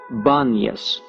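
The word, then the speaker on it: Banias: god Pan was worshiped the inability of most Arabs to pronounce the P is the reason the place of pan is called baniyas presently the spring issues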